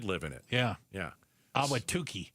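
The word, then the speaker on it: Awatukee: Awatuki. Awatuki.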